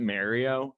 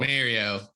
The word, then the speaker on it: Mario: And if you pronounce it Mario, go fuck yourself. Mario.